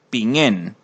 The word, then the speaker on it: pingen: Para contestar me llamo, lo que hago es decir mi nombre y agregar pingen, pronunciado de ese modo, con la G que marca el sonido nasal que ya habíamos visto en algunos videos anteriores.